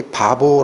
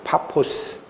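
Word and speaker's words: Πάφος: 있는 수도 껴 깁니다 여기 바보 라고 나오는데 원래 발음은 타 포스 입니다 파포스 바보 안양 그바보 아닙니다 파 포스 라는 도시로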